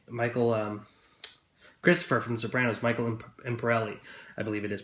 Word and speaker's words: Michael Imperioli: Michael, Christopher from The Sopranos, Michael Imperioli, I believe it is pronounced.